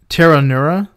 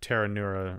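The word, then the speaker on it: Pteronura: stuff that's long uh the genus is tanura there's a silent p and the species is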